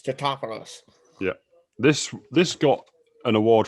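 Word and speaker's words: Tatopoulos: Totopoulos, yeah. Yeah, because people keep getting his name wrong. And he's like, it's Totopoulos.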